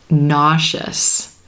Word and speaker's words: nauseous: Nauseous, gaseous. Here again, we do have a common spelling pattern. The letter S right before the suffix is blending with that E and becoming the SH.